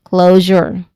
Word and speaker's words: closure: Closure. Okay. Closure. The prime the primary stress is on the first syllable.